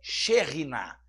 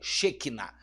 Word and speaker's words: Shekinah: habitação habitação ou moradia a pronúncia correta é cherrina cherrina tá e não Shekinah e sim cherrina e ela significa quando